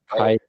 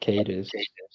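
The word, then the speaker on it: Caedus: Somebody said Darth Titus the other day instead of Darth Cadus.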